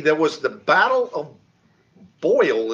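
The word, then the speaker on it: Boyne: was the battle of boyle is the way i'm going to pronounce it this b-o-y-n-e uh it was uh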